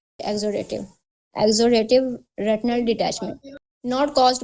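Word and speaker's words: exudative: Spelling मैं बता देती हूं। ई ई एक्स यू डी ए टी आई वी ई एग्जोडेटिव।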